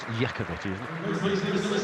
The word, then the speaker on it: Iacovetti: It's Iacovetti, I think I said Lakovici. It's because the way it's spelt, or the way it looks like it's spelt, it's not. It's Iacovetti.